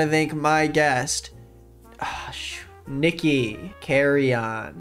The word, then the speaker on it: Carreon: Is that how you say it? Yeah, it is. I mean, technically it's not. You're supposed to say it with the flair of like Carreon, but like Carreon. I was only raised by my white parent, so therefore I just say it like Carreon.